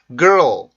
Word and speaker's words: girl: 이 발음은 R 발음과 L 발음이 연속적으로 나오기 때문에 생기는 좀 특이한 현상인데요.